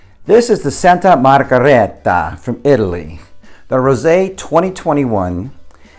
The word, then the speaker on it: Margherita: had their Pinot Grigio the Santa margareta I think I'm saying it right probably not I mean we all say it you know Santa Margarita because that's you know we're lazy and I get it